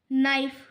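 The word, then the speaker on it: knife: नाइफ नाइफ में के silent हो जाएगा।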